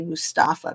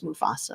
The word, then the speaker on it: Mufasa: his daughter's opening the I always say it wrong it's not Mufasa is it I say Mustafa but yeah it's Mufasa I think um I